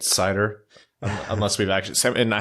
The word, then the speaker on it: Seider: will probably be our episode titles more it's cider unless we've actually seven I have to give credit to a few people who tweeted that at us but no cider it is just gonna be the simple one